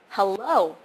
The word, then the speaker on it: hello: is the important part the stress is on the second syllable most of you or most of us I would do that through sometimes I put the stress on the first syllable so hello but that's not how you say it's supposed to be hello hello hello or something would